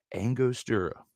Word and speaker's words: Angostura: All right, help me out with this pronunciation. I'm going to butcher it. Angostura.